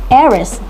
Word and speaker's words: heiress: sound "au" the hour next is heiress It begins with the letter h. However, it uses a vowel sound e the heiress.